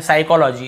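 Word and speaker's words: psychology: प में पहुंच गए एस से पहले प आए तो प साइलेंट होता है तो देखिए एस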